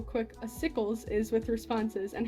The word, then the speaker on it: Acycles: my first interaction with a sickles was me dming him on Discord to ask how to pronounce his name it's not Achilles Like I thought it was it's a sickles um the acycles patient